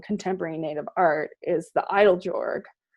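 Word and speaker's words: Eiteljorg: including um collecting contemporary native art is the idol jorg e i t e l j o r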